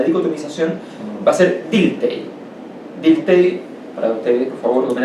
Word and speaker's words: Dilthey: Dilthey, para ustedes, por favor, tomen el apunte, se escribe D-I-L-T-H-E-Y, Dilthey.